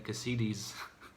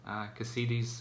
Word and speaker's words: Cassidy: pronounce it like like as if it were like an Italian name or something cos CDs so but I know it's Cassidy now anyway so for